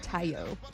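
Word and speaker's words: Taillon: Tayo. Okay, they're saying his Jameson's last name is pronounced Tayo.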